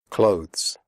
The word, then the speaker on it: clothes: Clothes. The final sound is a the followed by an s. Clothes. If this is difficult for you, just pronounce it like close, as in close the door.